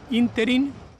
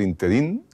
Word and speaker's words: ínterin: En el ínterin, pues se escribe E-N-N-E-L-L, ínterin, con tilde en la I. Hay una tendencia curiosa a decir el interín, no sé por qué, a hacer aguda una palabra que es esdrújula, quizá porque influye el